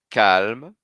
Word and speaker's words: calme: Eu vou só até o L. Disponible, disponible. calme, calme. Vou até a última consoante.